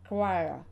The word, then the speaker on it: choir: Вот очень интересный пример слова choir – хор. Произношение или чтение слова никак не соотносится с написанием.